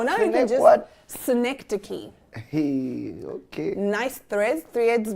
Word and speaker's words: synecdoche: Synecdoche.